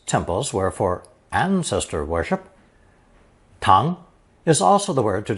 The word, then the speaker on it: 堂: Pronounced second tone, tang, tang.